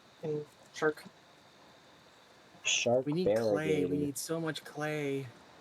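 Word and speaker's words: Klei: Please be clay. What is No, the you're company rocks. called Clay? Yeah, it's pronounced clay, apparently. I thought it was pronounced clee for the longest time.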